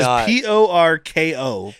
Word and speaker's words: Porko: And it is Porko. So I heard it was Porco. I didn't expect it to be spelled like that. I like throw a U in there. Like P-O-U. Like Porco. Nope. Fat guy Porco, please and thank you.